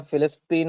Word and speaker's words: ഫിലസ്തീൻ: ഈ പലസ്തീൻ എന്ന് പറയുന്ന ഈ പ എന്നുള്ള ഉച്ചാരണം പോലും അറബിയിൽ ഇല്ല അതുകൊണ്ടാണ് അവര് പലസ്തീൻ എന്ന് പറയുന്നതിനു പകരം ഫിലസ്തീൻ എന്ന് പറയുന്നത് ആ അവര പലതീൻ പലസ്തീൻ അവര്